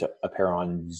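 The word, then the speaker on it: Apeiron: has a clinic called a pair on which is spelled 8-iron a PE iro n and actually it's a pair on those do H which is Latin I guess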